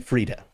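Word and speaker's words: Friede: I'm listening to the dialogue. Frieda. Okay, hang on. I don't know if you guys can hear that. Can you hear my audio? That's the correct pronunciation. Anyone that pronounces it differently is wrong. Hang on a second. Frieda. That's it. That's what he's saying. He's saying Frieda.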